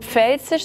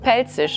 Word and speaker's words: Pfälzisch: And Pfälzisch (Palatine) is also not pronounced "pfälzisch" like I say it, but more like "pälzisch", right? Pälzisch - exactly. We also leave out the "f" there.